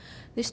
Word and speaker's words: these: All right, first of all, these is very long because S is pronounced as Z, and that makes the E even longer. E is a long vowel anyway, and the Z makes it even longer.